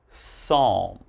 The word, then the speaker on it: psalm: So as you notice, PS is very common, but don't say the P, all right?